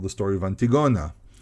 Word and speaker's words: Antigona: And for example, there's a very famous story called the story of Antigona. Maybe in English you pronounce it differently, but in Hebrew, called Antigona, and that's actually closer to the Greek pronunciation.